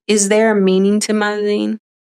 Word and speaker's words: MaZing: there a meaning to maing it's spelled like amazing but without the a right so so the